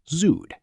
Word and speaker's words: zuhd: The word is zuhd, pronounced zuhd.